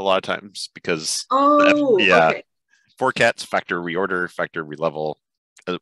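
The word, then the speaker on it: forcats: be learning is um how do you pronounce this four cats or four categories or that's just fine i just say four cats four cats and then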